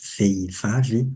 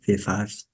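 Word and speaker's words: vehivavy: Et là aussi, le H, veivavi. On dit veivavi. Mais quand on le prononce rapidement, c'est vevavi. On, on avale le H et le I et on prononce tout avec vevavi.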